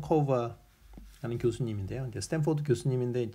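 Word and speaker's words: Cover: 그래서 토마스 코버라고 읽고요.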